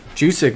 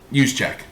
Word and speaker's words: Juszczyk: He was the starting guy, but Jusic looked better. Is that how you say his name? no. Juice. Juszczyk.